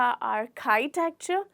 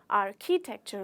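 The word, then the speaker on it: architecture: क्या होती है बताइए आर्सी टेक्चर या आर काइ टेक्चर यह बहुत बार गलती होती है आर्काइट क्चर नहीं होता आर्किटेक्चर होता है आर्किटेक्चर मतलब कि वो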